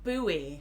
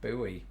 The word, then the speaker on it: buoy: We pronounce this just as you would What is pronounce this? the word boy, as in boy and girl. Buoy. Buoy.